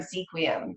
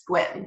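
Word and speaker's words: Sequim: laughs about is swim it's spelled seq you I am sequin but it's squid there's no way you get squid out of that there's too many silent letters so this is a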